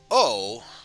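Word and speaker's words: を: as a regular syllable o the particle represented by the o is actually pronounced o instead of because in this case the w would be silent because of the subject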